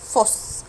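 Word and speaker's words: Fuß: طب انا بنطقه ازاي ده يا فراو في الكلمه؟ الاس ست ده بنطقه زي الاس بالظبط، يعني ده اسمه اس ست، هنطق الكلمه بتاعتها فوس.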